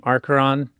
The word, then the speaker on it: Arkheron: working on the new game Archeron. Did I pronounce it right? You did. Good job. I always tell people just imagine the H is silent when you pronounce it.